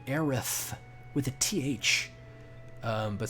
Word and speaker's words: Aerith: her name is actually phonetically it should be aerith with a th um but some reason in Japan when they translate to English they made it Eris and so uh should